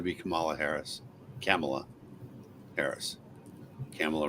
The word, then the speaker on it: Kamala: Kamala rhymes with Pamela.